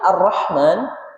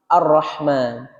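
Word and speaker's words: الرحمن: Kalimat arrahman arrahim. Ya, di situ kalau secara bahasa Arab jelas ya. Ar-Rahman itu maha pengasih. Arrahim maha penyayang. Dua-duanya dibaca menggunakan huruf ha tipis. Tidak boleh dibaca dengan ha tebal.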